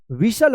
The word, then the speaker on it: whistle: अब देखिए यहाँ पे WHISTLE, क्या पढ़ेंगे, क्या पढ़ेंगे इसको, विशल पढ़ेंगे, विशल।